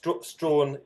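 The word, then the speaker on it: Strachan: Um well I'll call myself strawn is is how I pronounce it but I'm I'm appealing to all straens and all straws um throughout the world so I'll I will answer to either I shall refer to you as Mr.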